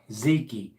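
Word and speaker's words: Zeyke: be good yeah uh ziki is uh if anybody's wondering is spelled z e y k e ziki and like I said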